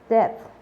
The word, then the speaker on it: depth: Normalmente es como la TH tiene un sonido como de soplido con la lengua entre los dientes. Depth.